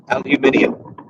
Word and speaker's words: aluminium: That was, I remember with that show, it was the first time that I'd ever really heard the British pronunciation of the metal aluminium.